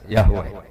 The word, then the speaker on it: Yahweh: Ya paham ya, Tuhan Yahudi tunggal niku Yahweh napa? Ya. Iku nak teng ejaan Latin Y besar, A H besar, W E H besar. Yahweh.